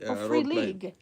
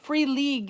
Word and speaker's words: Free League: Uh and I have bought the rights to some uh really interesting free league. I thought you said free something else. Yeah, free league is how you pronounce that.